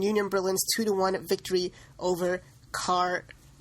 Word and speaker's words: Karlsruhe: Berlin's 2-1 victory over Karlsruhe? How do you pronounce that, Sahil? Karlsruhe. Are you sure? Positive.